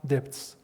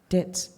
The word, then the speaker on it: debts: I'm a co-producer of the film and I only have depths. Debts. Depths. How do you say depths? Debts.